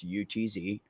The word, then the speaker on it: Utz: My my one time of being married, I was married to someone whose last name was UTZ, and they pronounced it Utz, and very German Oot, and oot, Utz, UTZ, yeah, Utz, oot, oot, oot.